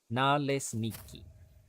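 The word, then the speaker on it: naleśniki: It's pronounced, oh god, here we go. Nalesniki? Nalesniki. Exactly as it's spelled.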